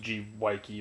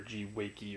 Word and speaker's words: G.Weike: machines the the brand I think it's pronounced G Y key or G Y key or something like that basically what this is